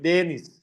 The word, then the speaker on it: Dennis: Dennis yeah it's Dennis it's actually like with a long e so it's like Dennis you know but yeah